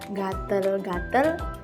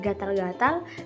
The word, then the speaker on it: gatal-gatal: bunyi a contohnya kata gatel-gatel Asep bunyi yang digunakan penutur adalah bunyi vokal e seharusnya bunyi vokal a setelah diperbaiki kata gatel-gatel diganti menjadi gatal-gatal dan kata Asep menjadi asap yang kedua ada kesalahan